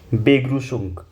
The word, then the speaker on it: Begrüßung: बेग्रूस दी बेग्रूसंग।